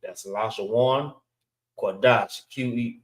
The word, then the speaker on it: Lashawan Qadash: All right, this is the correct way of how to spell it. It's Lashawan. That's Lashawan Qadash.